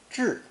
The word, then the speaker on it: 至: Pronounced fourth tone, 至, 至.